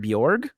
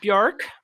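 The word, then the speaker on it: Björk: i decided that we're going to pronounce it bjorg so like york kind of yeah so i'm sorry that i'm i've been messing it up this whole time bjork they're all wearing swan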